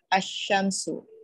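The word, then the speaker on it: الشمس: Example, al-shamsu, the sun, is pronounced ash-shamsu.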